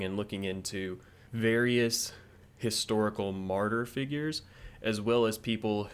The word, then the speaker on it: Martyr: which I think technically, to pronounce the title correctly, I should be shouting it, but I don't feel like shouting on the podcast episode, so imagine me shouting the word martyr.